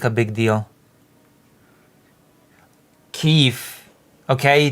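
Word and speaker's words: Kyiv: Keefe. Okay. The proper pronunciation and spelling is K Y I V.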